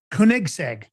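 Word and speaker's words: Koenigsegg: So, for the for everybody, this is uh Kunigseg is how it's pronounced.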